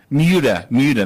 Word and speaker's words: Muta: Muta.